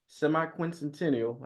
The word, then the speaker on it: semiquincentennial: initiative marketing the nation semi sesquential semiquincentennial I said it right and a contributing colonist